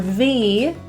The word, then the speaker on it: the: The word the in this will be pronounced as a schwa, the, really quick, on the.